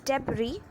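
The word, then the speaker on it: debris: Well, अगर आप सोच रहे हो हाँ, तो आप बिल्कुल गलत हो, क्योंकि इन सब वर्ड्स का सही प्रोनाउंसिएशन है आयन, डेब्री एंड पोअम।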